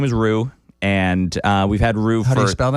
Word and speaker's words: Roux: We have my dog's name is Rue, and we've had Rue for. How do you spell that?